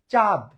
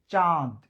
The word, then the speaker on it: চাঁদ: আপনি যদি বলেন চাঁদ, চাঁদ, চাঁদ, তাহলে কিন্তু এটা একটা দেশের নাম, আফ্রিকার একটা দেশ। কিন্তু যদি আপনি আকাশের চাঁদ বোঝাতে চান, তাহলে উচ্চারণ কি হবে? চন্দ্রবিন্দু সহকারে চাঁদ, নাক থেকে চাঁদ।